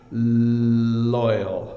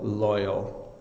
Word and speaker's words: loyal: on pronunciation with L you have to have your tongue it's behind your top teeth so it's loyal loyal and then the are